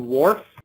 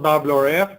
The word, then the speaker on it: WRF: use this model called Wharf weather research and forecasting and it pronounced not wrf but like the gentleman on Star Trek mr. work and we get the